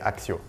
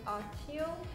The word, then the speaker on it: Accio: I think the only different one was Brazilian, the pronunciation. Alohomora. Alohomora. Alohomora. Alohomora. Everybody. So the third spell, in French, we would say Accio. So for this one, in America, we would say Accio.